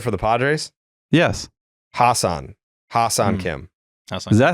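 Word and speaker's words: Ha-seong Kim: the the infielder for the Padres yes Hassan Hassan Kim is that how you pronounce it yeah yeah oh I never knew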